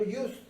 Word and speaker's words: used: Hay otras palabras, por ejemplo, used. Used es usado. Un carro usado. A used car. ¿Cómo se pronuncia? A used car. Esta U no suena como U. Suena como consonante, como doble L.